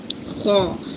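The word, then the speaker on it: خ: This is letter comes from the top of the throat and pronounce from here. This is the top of the throat and pronounce from here and say kho, kho. It's a full mouth letter.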